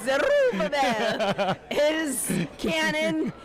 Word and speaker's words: Zerubbabel: Our producer would like us to know that the correct pronunciation of Zerabel is Would you stop that? I'm not pronouncing it like I'm not. No, no, no, no. It's Zerubbabel.